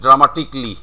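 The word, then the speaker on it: dramatically: তারপরে ধরো ড্রামাটিক্যালি আমাদের ব্যবহার করতে হয়, ড্রামাটিক্যালি, তাহলে ড্রামাটিক্যালি নট ড্রামাটিক্যালি, ইট ইজ ড্রামাটিকলি।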